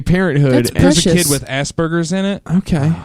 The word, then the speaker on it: Asperger: there's a kid with aspergers in it okay it's Asbergers it depends on who you ask I'm in Britain Asbergers cuz I think Asbergers is hilarious it's spelled as purger and it's not so it's